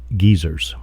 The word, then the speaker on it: geyser: information provided fun fact in New Zealand geysers are pronounced Geyers we get a meat